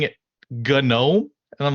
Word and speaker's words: GNOME: He's like, "Do you know you're saying it GNOME?" And I'm like, what are you talking about? He's like, "It's spelled GNOME, right?" I'm like, "Yeah, you know that's pronounced gnome, right?"